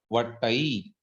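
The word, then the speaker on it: वट्टइ: वट्ठई नहीं है, वो वट्टई, डबल मतलब वट्टई, जो, हाँ ये वट्टई, टकार है, ठकार नहीं है ना। जी जी, इसको कहते हैं, वट्टई। हाँ, अल्प प्राण वाला ही, महाप्राण वाला नहीं।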